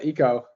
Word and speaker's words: Eko: I was actually happy Larry you said uh Eco that's how uh I suppose I suppose from the start pronounced it then a lot a lot of people started saying Echo what was fine as long as you don't